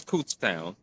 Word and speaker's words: Kutztown: If I'm sorry if I butchered that first name, but I believe it's Kutztown. Yep, Um, Kutztown. okay, Kutztown, right.